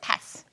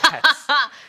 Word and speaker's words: paths: 이거 어떻게 발음하면 될까요? pass. 그냥 안 하는 거 아니에요? pass. 근데 pass는 아니야. pass. path예요. 찍었다. paths.